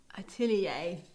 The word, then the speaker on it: atelier: right that's for sure atelier yes thank you thank you dmac that's very kind of you atelier there you go it's french thank you for helping